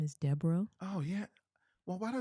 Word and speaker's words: Debo: can I tell you my last name is Debo oh yeah well why do I think it was Debro is okay so it's Deborah yeah I didn't